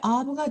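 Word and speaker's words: אָב: 이것은 브라고 읽습니다 왜 아브가 되는지를 보면 먼저 자음 알렙이 음처럼 약한 소리를 내고 그다음에이 카메츠 아는 것이 아 모음 기호가 되고 그다음에 매트가 브 소리를 내기 때문에 아브 하고 읽게 됩니다 다음으로이 단어는 어떻게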